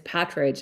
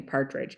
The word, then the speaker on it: Patridge: It's Patridge, and a lot of people call me Partridge.